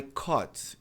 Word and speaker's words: caught: I cot a UGHT. Parecido com esse fenômeno aqui, né? Aqui é o UGHT. Aqui é a UGHT. Só tem som de c o t.